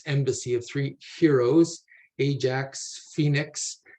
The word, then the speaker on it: Phoenix: of three heroes Ajax Phoenix and or Fenix is another pronun pronunciation I've heard and Adysius and for